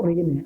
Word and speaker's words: reign: इसको पढ़ लिखते रेजिन हैं, लेकिन पढ़ते इसको रेन है, REIGN। इसको क्या पढ़ते हैं इंग्लिश में, रेन, ठीक है ना। लिखा कैसा है, रेजिन जैसा लिखा है ना, लेकिन इसको कैसे, इसका जो प्रोनाउंसिएशन है वो कैसे किया जाता है, रेन।